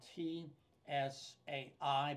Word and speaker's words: Tsai: Rick Tsai is his name. It is spelled T S A I, but it's pronounced Tsai as in the T as in Tea Party.